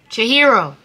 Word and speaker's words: Chihiro: Okay, y'all, so today we are reacting to Billie Eilish, I think it's Chihiro? I don't know. Hey Siri, what is Billie Eilish's new song, Chihiro? Chihiro.